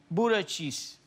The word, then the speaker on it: Buttigieg: Pete Buttigieg.